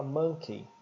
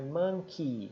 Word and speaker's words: monkey: erro comum dos brasileiros a gente geralmente fala Monkey todo combinação de e Y como Mickey Whitney e dinheiro money macaco Monkey burro danke né a gente usa esse e né e no inglês não é assim a combinação de e y forma o som de i alongado que é ess aqui então é Monkey se fosse dinheiro seria